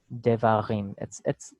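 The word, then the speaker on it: דְּבָרִים: I would do a vocal schwa. Devarim. They're both fairly non-sonorant, pretty close together. So devarim.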